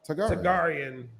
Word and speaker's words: Targaryen: How you pronounce Tagarian. it? Targaryen.